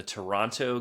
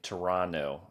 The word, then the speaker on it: Toronto: So, you have not been to Moonshine Gaming in in Toronto? I I have heard I don't pronounce the T.